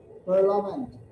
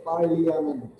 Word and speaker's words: Parliament: Parliament. Parliament. P-A-R-L-I-A-N-E-N-T, Parliament. But we are not here using, we are not pronouncing I here. It's not an I. Look very carefully, this is a very important thing. Parliament.